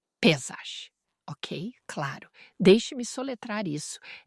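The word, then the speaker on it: Pesach: Em hebraico, eles pronunciam como Páscoa. Eles meio que engolem o ch, mas você ouvirá pessoas inglesas que a pronunciam Pessag.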